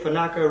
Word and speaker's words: Fanaka: If you ever forget, Fanaka rhymes with Maraca, you know, yada yada.